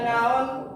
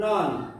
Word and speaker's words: noun: Ya, bacanya noun bukan non, but noun.